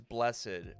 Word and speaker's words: Blessed: So with that, the intended pronunciation is blessed, but I know that it's not easily discernible.